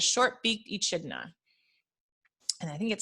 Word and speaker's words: echidna: called the spiny anteater the short beak echidna pronounced echidna oh how interesting i've been saying did you